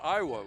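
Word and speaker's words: Ioti: I asked the coach on pronunciations, and it's spelled I-O-T-I, and he says it's pronounced Iowa, which I hope it is.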